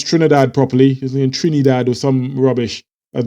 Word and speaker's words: Trinidad: even pronounce Trinidad properly Trinidad or some rubbish at most Brits tend to who know nothing about Trinidad pronounces Trinidad Trinidad he kept annoyed me